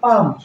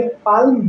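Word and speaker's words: palm: करेंगे उसी तरह से पाम पाम मतलब तार होता है अब एल के बाद एम है तो इसलिए हम इस ए का उच्चारण नहीं करेंगे और इसे पाम कहेंगे पाल्म नहीं कहेंगे आलम यहां आलम नहीं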